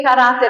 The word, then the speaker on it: caráter: questão então ó caráter Por que caráter é acentuado ah porque ela é uma paroxítona tem a penúltima sílaba tônica e termina com a letra R Por que que imóvel